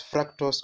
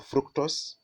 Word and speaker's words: fructose: then we have fructose you can pronounce it as fructose or fructose no problem and then we